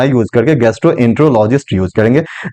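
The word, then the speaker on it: gastroenterologist: जो कि गैस्ट्रोलॉजिस्ट बिल्कुल प्रोफेशनल वर्ड नहीं है, तुम गैस्ट्रोलॉजिस्ट ना यूज करके गैस्ट्रोएंट्रोलॉजिस्ट यूज करेंगे। देखो साइलेबल क्या है, गैस्ट्रोएंट्रोलॉजिस्ट, गैस्ट्रोएंट्रोलॉजिस्ट, हम ऐसे इसका प्रोनाउंसिएशन करेंगे।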